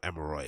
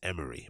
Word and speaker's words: Emery: releasing his name wrong it's tremaine emery right it's not emirate it's emery my bad so i was